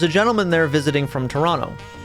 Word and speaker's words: Toronto: Well, there was a gentleman there visiting from Toronto. And yes, I say it like Toronto because I'm from Buffalo. That's how we say things here because we're like right across the river from Canada.